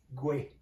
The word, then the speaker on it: Kwe: No, let me say in Mohawk, Gwe. Where? And how do we spell that for our viewers?